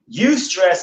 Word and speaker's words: eustress: Eustress is spelled E-U and then the word stress.